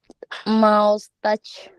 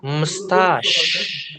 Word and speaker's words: mustache: How do you pronounce it? Mouse. Mouse touch. Ayo. Eh eh ayo ayo ayo ayo. Oh. Ah. So you have to say mustache. Yes.